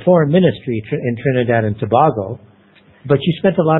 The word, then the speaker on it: Tobago: the I left Trinidad in Tobago uh it's pronounced Tobago not Tobago we Tobago Tobago that's right uh I went